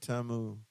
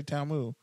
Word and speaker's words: TAMU: me for saying Tam TAMU it's Tam I don't say it like you don't sleep in front ofr you don't say TAMU I've been say close